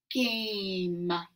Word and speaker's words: game: word is actually pronounced game guh when you have a e with a consonant in the middle this e becomes silent and it makes this